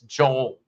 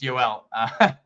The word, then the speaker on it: Joel: known as Yol cats you can tell how long I have been in Puerto Rico where I just said yel it's Joel um in Spanish it's yel responded to queries about